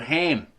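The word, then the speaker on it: Kham: of them was called Ham. It's about K-H-A-M, but the K is silent, as in the Egyptian.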